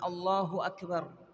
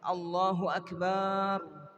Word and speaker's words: Allahu Akbar: al-fatihah tentang apa Ucapan Allahu Akbar Allahu akbar ada beberapa perkara yang beliau tanbih Muhammad bin Abdul Wahab beliau peringatan bahasanya pada pengucapan Allahu Akbar tidak boleh memanjangkan lafaz atau huruf hamzah di awal tidak boleh dikatakan Allahu